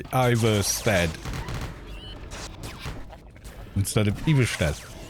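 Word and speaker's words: Ivarstead: "Oh yeah," you know, because he was pronouncing all the towns' names in Skyrim in a kind of Nordic fashion. I was going, "Why are you saying it like that?" Because he goes Iverstead instead of Ivorstead.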